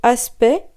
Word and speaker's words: aspect: Déjà le mot aspect, qui s'écrit A-S-P-E-C-T-S, mais on ne prononce pas comme vous l'entendez le C et le T, tout comme dans respect, suspect.